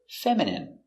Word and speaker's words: feminine: feminine like a girl pronunciation feminine f e mem i f fem femin femin feminine feminine feminine stress on the first syllable feminine feminine your dog